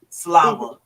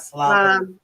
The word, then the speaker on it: Slava: It is with an A. Slava. Not Slava.